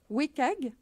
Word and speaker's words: WCAG: Qui s'écrit WCAG et se prononce "Wécag", et qui sont les règles d'accessibilité des contenus web.